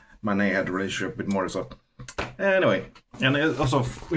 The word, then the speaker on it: Morisot: And actually Berthe Morisot exists and Mor- Morisot. I think Morisot is right pronunciation.